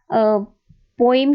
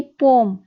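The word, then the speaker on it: poem: कोई भी पोइम को जो है प्रोनाउंसिएशन आजकल चेंज हो गई है, और इसको प्रोनाउंसिएशन है इसकी पोम।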